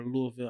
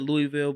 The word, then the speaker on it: Louisville: But Louisville's going to be good, or Louisville. I always pronounce it wrong. I've always said Louisville, but I know people from the area, they say it in their accent, Louisville, something like that.